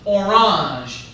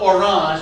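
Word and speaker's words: Orange: 529 the Council of orang spell it like the fruit and you'll get it right the Council of orang or the color um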